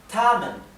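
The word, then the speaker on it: 他们: se dice y ellos o ellas se dice tamen tamen Sí así que vamos a poner esto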